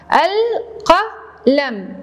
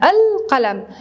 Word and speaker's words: القلم: حرف القاف عليه فتحة، القلم، القلم. هل لفظنا اللام؟ إنها لام قمرية، نضع على رأسها سكون، لا ننسى السكون، القلم، لام قمرية.